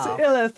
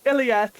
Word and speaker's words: Ilith: I will yes, introduce Ilith, not Iliath.